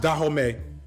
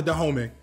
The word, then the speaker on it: Dahomey: uh nation in Africa I believe this is pronounced dahome um that was in